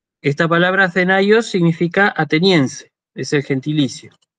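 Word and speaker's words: Ἀθηναῖος: Fíjense que el circunflejo está escrito sobre la iota, pero uno no dice Athenaios, dice Athenaios. Esta palabra Athenaios significa ateniense, es el gentilicio.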